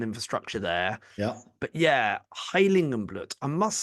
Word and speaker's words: Heiligenblut: Yeah, I think, Heiligenblut or Heiligenblut. I think you pronounced it pretty spot on there.